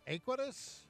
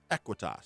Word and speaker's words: Aequitas: Now, is it pronounced Aequitas? Aequitas. Aequitas.